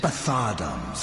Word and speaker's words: Bthardamz: He shepherded them into Bthardamz for me, but has since lost his way. That's how you pronounce I it.